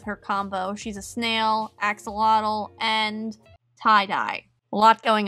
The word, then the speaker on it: axolotl: an axolotl i think i don't know how to say that i know i said it wrong in my first squishy makeover video and a lot of people were like no you said it wrong but i've been practicing axolotl axolotl axolotl axolotl axolotl axolotl i'll get there anyway so i'm coloring